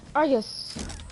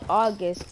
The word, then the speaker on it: Argus: Argus, long range shotgun. I used to call this gun August because I didn't know how to say it, the name.